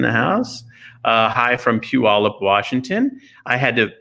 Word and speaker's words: Puyallup: to say it because some people don't know how to say pew all up unless you're indoctrinated into the greater seattle